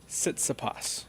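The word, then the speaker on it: Tsitsipas: how do you say the guy's name Stefanos sitsapas nice uh the he was the fifth seed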